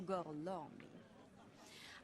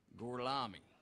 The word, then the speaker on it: Gorlami: Dies hier ist der hervorragende Sensationsdarsteller Enzo Gorlami.